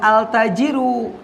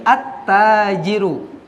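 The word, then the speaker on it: التاجر: dibaca alqamaru lamnya dibunyikan Tapi kalau ini enggak bukan altajirun disebutnya atau dibacanya jadi attajiru attajiru dlamnya disembunyikan k5p bunyinya Kenapa karena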